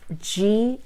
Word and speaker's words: Gila: It's Gila. That's right. Because most people want to spell it with an H.